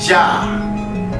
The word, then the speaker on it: Yah: actually still there, but it's pronounced Jah in this passage. Let's look at the Strong's Hebrew Dictionary to see what the name Yah means.